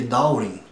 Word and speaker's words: Darwin: Mas no inglês da Inglaterra, o W ali, ele não pronuncia, tá? Então fica com som ali de Darwin, tá?